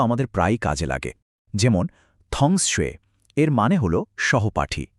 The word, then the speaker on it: 他: প্রথমটা হলো থা। এর মানে হল সে বা তিনি। এটা ছেলেদের ক্ষেত্রে ব্যবহার হয়। এখন মজার বিষয়টা হলো মেয়েদের ক্ষেত্রেও সে বা তিনি বোঝাতে উচ্চারণটা কিন্তু একই। কিন্তু লেখার সময় অক্ষরটা দেখুন একদম আলাদা। থা ইন্টারেস্টিং তাই না?